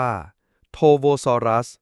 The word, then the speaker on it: Torvosaurus: เลย แม้ แต่ น้อย โทโวซอรัส อ่าน ว่า โทโวซอรัส มี ความ หมาย ว่า